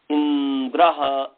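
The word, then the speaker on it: इन्द्र: से उसका उच्चारण करेंगे इंद्र ऐसा इंद्र ्र इंद्र नहीं कहेंगे इंद्र नहीं कहेंगे इंद्र ई पर जोड़ पड़ेगा अश्व अ पर जोड़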